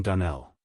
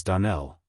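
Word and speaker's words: Donnell: you pronounced our name Dell now Miss Shirley the correct pronunciation of our name is DaNell Accent on the last syllable I hope you'll remember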